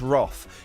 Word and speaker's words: wrath: He's braved the wrath of wife Vicki and plenty of other women. Wrath, I'd say. Yeah, I know. But we're not American. It's pronounced Roth.